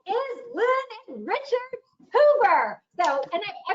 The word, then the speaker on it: Huber: speaker tonight and it is lynn and richard hoover so and i pronounced your last name right right really close hubert hubert hubert okay am i saying it right yes okay